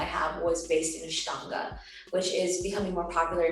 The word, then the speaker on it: Ashtanga: Okay, Ashtanga. Absolutely, Ashtanga, yes.